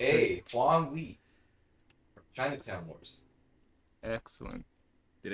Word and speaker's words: Huang Li: Huang Li. From Chinatown Wars. Excellent. Did anyone play that Excellent. game? Everyone Get on played the your game. phone now. But Sam did pronounce it correctly. It's Huang Li.